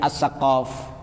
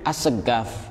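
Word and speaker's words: السقاف: As-Segaf itu tulisannya As-Saqaf. As-Saqaf. Kemudian orang-orang Hadramaut, orang-orang Yaman membaca qaf itu agak susah, jadi As-Segaf. Qaf jadi G, dan itu sholatnya tetap sah.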